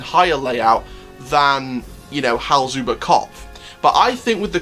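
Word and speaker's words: Hals-über-Kopf: Now, you've got to remember, Hal's Uber Kopf, that's how it's pronounced, which is the suspended thrill coaster coming to Tripsdrill, apparently this year.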